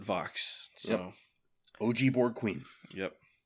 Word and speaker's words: Võx: the episode they say Vox so that's what we're going with the Borg Queen pronounced it Vox so OG Borg Queen